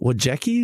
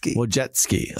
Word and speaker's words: Wojcicki: Well, so this is Esther Wojcicki. Did I say it right? Wojcicki.